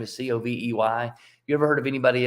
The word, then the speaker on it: Covey: so it's pretty funny the Mormon version of the last name pronounces her name Covey the Methodist version of the last name pronounces it covet so they have a